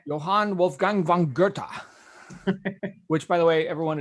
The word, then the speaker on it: Goethe: Johann Wolfgang von Goethe, which, by the way, everyone is spelled Goethe. Looks like Goethe, but it's pronounced Goethe, German.